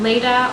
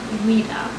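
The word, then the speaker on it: Leda: love the meaning uh you can also pronounce this name Le although I personally prefer the pronunciation Lita the name Lita was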